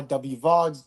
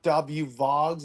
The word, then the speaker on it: WVOGS: last name is Vogal so it should be W voges so I go by w vogs w voges 18 more like w vogs even though my last